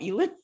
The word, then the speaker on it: Elon: I don't care if he's Elon Musk, you know, a genius. There's stuff that I know that I can teach Ellen. What do I call him? Elon?